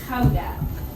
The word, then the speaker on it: Gouda: and we specialize in Gouda cheese which we pronounce as how death so all the cheese